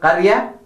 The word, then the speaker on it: قرية: The ra, make sure that you pronounce it properly. قرية, not قرية, but قرية. Listen to me again. قرية.